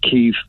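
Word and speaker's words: Kyiv: we call it moscow the ukrainians call it cave yeah the west we in the west and the united kingdom in america call it kiev you see now any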